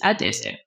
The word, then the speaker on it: Adaeze: and in the book you you'll see that i' say both pronunciations just to share the that's part of my name but it is AD dis that's who I am oh man so good